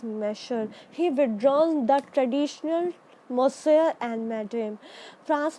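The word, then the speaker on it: Monsieur: किसी को, तो वो लोग क्या बोलते थे, मोसेयर बोलते थे. यू can pronounce it, you will feel very happy to pronounce it.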